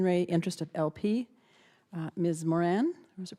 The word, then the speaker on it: Moran: Moran, or is it pronounced, am I pronouncing it correct? Moran, thank you.